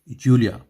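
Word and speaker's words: Julia: आपको बता देता है जे का स्पेलिंग, जे जो है वो वाई जैसा साउंड करता है जर्मन में, तो हम इसे जूलिया ना पढ़ के जूलिया पढ़ेंगे, जूलिया।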